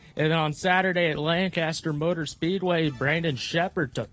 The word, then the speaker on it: Lancaster: You got to like just put together all your letters. Lancaster. It's only 2 syllables.